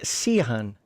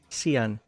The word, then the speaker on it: Seon: leads us to King Sean seon I didn't spell it like Shawn otherwise I would have pronounced it wrong the entire time pragmatism